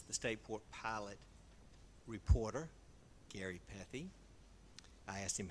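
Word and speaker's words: Pethe: King, and I would also like to recognize the Stateport pilot reporter, Gary Pethy. I asked him how to pronounce his name.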